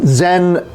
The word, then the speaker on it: Zen: But Zen pronounced the same as we think of like Zen and meditation.